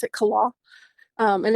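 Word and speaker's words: Killough: Kala is spelled K I L L O U G H. Um I've heard people pronounce it all kinds of different ways. I pronounce it Kala.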